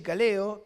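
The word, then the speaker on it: καλέω: Y esto tiene que ver con la palabra llamamiento, que en griego es kaleo, se pronuncia así, kaleo, que significa invitar.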